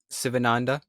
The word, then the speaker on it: Sivananda: Thich Nhat Hanh, Sri Aurobindo, Jesus, Swami Sivananda.